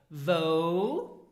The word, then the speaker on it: wou: Now these 3 question words are the first one, wo. So this means where and pronounce it wo.